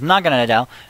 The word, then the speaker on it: Naganadel: I might just have to keep that up there so I can always pronounce it properly. It's Naganadel, and even Volcanium Prism Star, the majestic Arceus